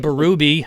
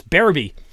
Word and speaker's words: Barby: hard to pronounce names I was always saying saying Jordan barui and he corrected me last week when he was on he says it's Barby so Jordan we'll get